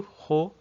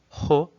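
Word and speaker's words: ほ: Então aqui o ho, né, o som aspirado do ho, ele deve ter o segundo e o terceiro traço paralelos.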